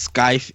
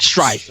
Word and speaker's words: Strife: game just came out um you play as sky in um did I say it right Strife not Sky strife and Skype is the program